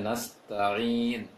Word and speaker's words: نستعين: pengucapan ain tadi, dari pengucapan ain dari bacaan Budi kurang, masih agak terarah ke Hamzah tadi bacaannya, bacaan Budi Handoyo. Bacaan tadi iyyaka na'budu wa iyyaka nasta'in, seharusnya nasta'in untuk Budi.